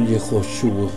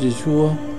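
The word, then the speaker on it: יֵשׁוּעַ: Pero con las inclusiones que hicieron los masoretas y sus reglas, Yeshua no es pronunciable en el nuevo hebreo. Le tenemos que poner una hey para decir algo así como Yehoshua, pero no, el nombre es Yeshua y así Dios lo llama.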